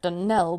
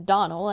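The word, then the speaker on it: Donnell: as often as not as for that Dell woman she'll get no delling from me I can assure you the name is Donal and always has been the woman is crazy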